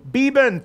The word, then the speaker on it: Beban: Heisman Trophy winner Gary beeban thanks for being on the show Gary thank you Peter good morning that's how you pronounce right beeban yes just wanted to make